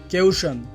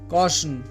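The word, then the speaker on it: caution: উচ্চারণটি হবে tiny tiny কেউশন এটি ভুল উচ্চারণ এই শব্দটির সঠিক উচ্চারণ হবে কসন কসন বাফেট এটি ভুল উচ্চারণ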